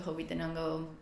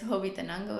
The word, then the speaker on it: Hobbitenango: leave from there to go up to Hobbitenango all day, every day.